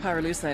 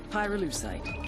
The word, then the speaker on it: pyrolusite: him you know what pyrolusite is right yeah neither did I pyrolusite key syllable pyro by the way is